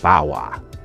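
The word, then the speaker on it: Barrois: Like, the Marc Antoine Bauer is that how you say it? Bauer.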